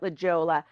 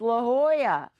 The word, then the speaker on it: La Jolla: wanted to check out the Jolla and sure enough I loved it come to find out the way you're supposed to pronounce that city is La Jolla well who knew I